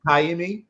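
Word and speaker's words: Ka'imi: it's pronounced he's it is it Kimi okay Kimi is how it's pronounced okay uh well he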